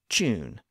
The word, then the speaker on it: tune: in this way today you'll hear many people pronounce the word Tuesday as Tuesday and tune as chune but those haven't quite